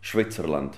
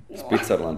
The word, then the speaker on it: Switzerland: schwitzerland sound to you don't say it like that schwitzerland yeah why schwitzen you know no sweating oh Switzerland Switzerland is better Switzerland sounds to me